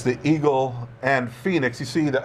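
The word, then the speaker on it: Phenix: doesn't sound like phonics it sounds like phoenix and uh and e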